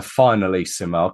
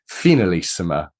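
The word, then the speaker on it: Finalissima: game which was the I was calling it the finale similar clearly I've got my pronunciation wrong it's the finalisima I think it's got that more European or South American accent to it but it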